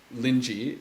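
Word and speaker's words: Linji: century China uh who's whose name in Chinese was lingy in in Japanese uh would be pronounced more in irinsai uh and so that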